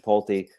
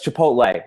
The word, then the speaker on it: Chipotle: guess i guess it's someone's correcting me that I've mispronounced your polti I don't eat there so I always mispronounce it luckily but wait what is your problem this is what shirt somewhat someone's chipotle not your Polti my bad yeah I